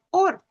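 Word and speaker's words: אור: La palabra principal para luz en hebreo es or, que se pronuncia así, or.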